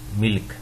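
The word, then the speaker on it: مِلک: ہے دوستو یہ ہے ملک، میم کے نیچے زیر، لام اور کاف، ملک۔ اور اس کا معنی کیا ہوتا ہے؟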